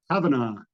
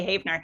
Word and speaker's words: Havenaar: And has a almost exact same spelling, but he pronounces it. Go ahead. Havenaar. Havenaar. Okay. I do have some relatives who pronounce it that way, but yeah, it's natural for me to say Havenaar.